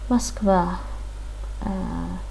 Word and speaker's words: Москва: Another tip, you can hear that we pronounce the letter O as A in the word Moskva.